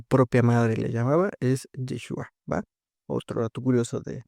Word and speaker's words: Yeshua: María, su la mamá de Cristo, le llamaba Yeshua, porque esa es la manera correcta de pronunciar lo que hoy pronunciaríamos en español como Jesús, ¿verdad?